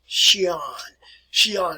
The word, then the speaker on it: Xi'an: I also want to share with you something else here about the city which is called Xi'an, and that's the way it is pronounced here, folks.